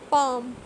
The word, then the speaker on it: palm: Could, calm, half, should, talk, palm, would. So same is the case with silent L. In all these words I am not pronouncing the letter L.